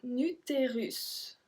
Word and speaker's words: utérus: If you remember the lesson how to read in French, the last letter, if it's a S, we are not supposed to pronounce it, but sometimes we do, and that's one of the exceptions.